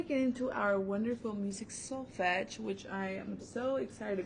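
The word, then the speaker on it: solfège: before it's just pronounced soul fetch soul fetch so it's kind of like a fetch like you you pull your dog and you play fetch so it's gonna be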